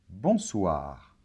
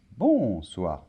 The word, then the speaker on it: bonsoir: et le r finale bonsoir très bien accents toniques et toujours à la fin des mots en français donc c'est pas bon soir non bonsoir d'accord bonjour très bien alors